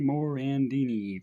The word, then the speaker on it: Morandini: say his name and he would always say mickey morandini just like that like very emphasis on the on my last name very funny another